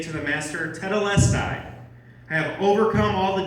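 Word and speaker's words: τετέλεσται: John wrote his gospel in Greek, and those last words of Jesus are just one word in Greek, and it's pronounced tetelestai.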